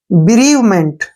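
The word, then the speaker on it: bereavement: बी का उच्चारण हो गया बी, ठीक है ना। REAVE, यहां तक का उच्चारण बन गया रीव, REAVE, रीव, ठीक है ना। ब्रीव, MENT, मेंट, ठीक है ना, MENT से बन गया मेंट। ब्रीवमेंट, क्या पढ़ेंगे इसको, ब्रीवमेंट।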